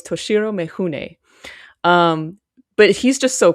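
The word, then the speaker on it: Mifune: We wanted to make sure we pronounced his name correctly. So it's Toshiro Mahune.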